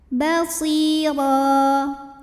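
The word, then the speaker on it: بَصِيرًا: Sukun didahului kasrah maka Shad panjang dua harakat Basir huruf ro dibaca secara tafkhim karena berbaris tanwin fathah dibacanya tebal Basir ro sebab ada baris tanwin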